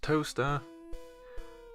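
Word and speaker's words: Towcester: your leg it's pronounced toaster yes toaster as in exactly the same as the appliance the kitchen appliance used to make toast it's pronounced toaster and there's a road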